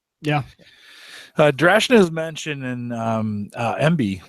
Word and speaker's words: Emby: Drashna is mentioned in MB. Is that how you pronounce it? EMBY? MB? Yes. Yeah. It started out, it was Media Browser as a plugin for Media Center.